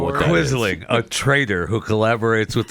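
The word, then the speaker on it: quisling: Is that like a quizzling?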